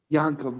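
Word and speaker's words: Yankem: Isaac Jacob yeah d remember it's pronounced yanum yankum that's right from DK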